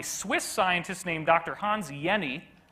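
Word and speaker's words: Jenny: Hans yeni even though there's a J in his name you pronounce it without the J sound like a why and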